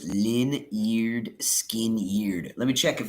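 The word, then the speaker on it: Lynyrd Skynyrd: Pronounced Lin-eared, skin-eared.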